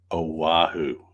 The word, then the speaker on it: Oahu: Okay, Mike says Oahu. Okay, that's how you say it.